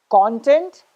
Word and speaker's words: content: Whenever you're using the word as a noun, you will stress on the first syllable.